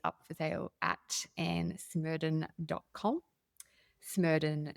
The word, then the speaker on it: Smerdon: But it is pronounced Smerdon. There is no A in Smerdon.